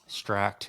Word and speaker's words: Stract: makes clear um Jason what is stract is how you pronounce it stract yeah so what's the deal